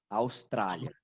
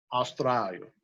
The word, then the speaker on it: Austrália: Como se fala Australia? Isso, fala com A. Austrália. Austrália, Isso. né? Mas é LA mesmo, Austrália.